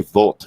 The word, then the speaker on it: Voit: combination for that attack Voit is out here I should say vault is the way that you'd be pronouncing that name correctly in Germany one of another one